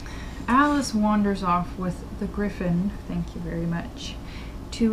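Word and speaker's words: Gryphon: little sense and they wander off to the greif on according to them was apparently the way to pronounce that like everybody pronounced it as greif on its a Griffin I don't know where they got the pronunciation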